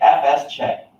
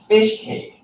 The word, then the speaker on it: fsck: read up on pronunciation it can be fsck FS check his check no extact fist fishcake anyway like that x ik f saw f sec fish this fix parse or